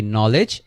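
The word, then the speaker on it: knowledge: তাহলে আমরা দেখতে পেলাম যে কোনো একটা ওয়ার্ডের শুরুতে যদি খে তারপরে এন থাকে, তাহলে ফার্স্ট খেটা হচ্ছে উচ্চারণ করা হয় না, আর এন থেকে উচ্চারণ শুরু হয়। যেমন হচ্ছে কি নলেজ নি নাইট, নলেজ মানে হচ্ছে জ্ঞান,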